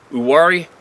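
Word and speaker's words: Uwharrie: not too far from the uwari forest the H is silent if that makes it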